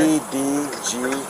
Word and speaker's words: Edgardo: E-D-G-A-R-D-O. Okay, how do you pronounce it?